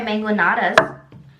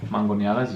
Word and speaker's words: mangonadas: Oh, mangoneadas, yes. Oh, I've been saying it wrong. How do you say it? Well, it's fine. Don't worry about it. How do you say it? Mangoneadas. Say it again? Mango. Mango. Neadas. Ñadas. Mango ñadas. That's close. Close enough.